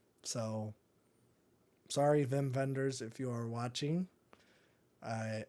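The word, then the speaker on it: Wim Wenders: called him whim Wenders not knowing that he was German so those W's are V's so sorry Vim vendors if you are watching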